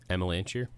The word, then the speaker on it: Amelanchier: Amelanchier. Yeah, okay. Amelanchier pronunciation.